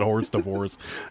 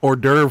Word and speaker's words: hors d'oeuvre: fancy name for appetizers we pronounce it wrong on purpose and i can't i always forget we pronounce it horse divorce um but we sold hors d'oeuvre forks on poshmark and